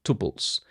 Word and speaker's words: tuple: Tuples are pronounced tuple, tuple, tuple. That's how I always heard people pronouncing them.